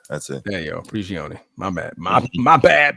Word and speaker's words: Prigioni: Pablo Did I pronounce that wrong? Yeah, whatever. Prigioni, yeah, that's it. There you go, Prigioni.